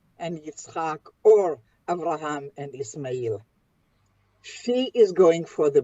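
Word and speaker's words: إسماعيل: How do you pronounce Ishmael in Arabic, Ayat? Ismail. Ismail. Ismail.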